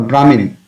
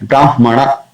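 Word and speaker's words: ब्राह्मण: Brahmana, it's a Brahman or Brahmin. So that way to remember it. Brahmana.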